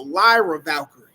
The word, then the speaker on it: Lyra Valkyrie: There you go, Lyra Valkyrie.